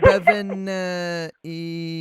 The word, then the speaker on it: Bevin: Bevin.